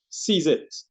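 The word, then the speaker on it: CZI: of Trinidad and Tobago we pronounce it sees it as in take hold of it seize it and we we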